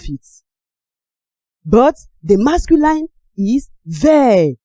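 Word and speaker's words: vert: But the masculine is ver. The T is silent, while the feminine is vet.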